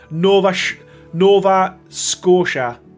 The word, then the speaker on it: Nova Scotia: Nova Scotia is how it's pronounced.